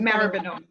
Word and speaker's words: Maribyrnong: We've got Zoe, Coordinator of Economic Development and Smart Cities at Maribyrnong City Council. Did I pronounce that right? Maribyrnong. It's a Maribyrnong.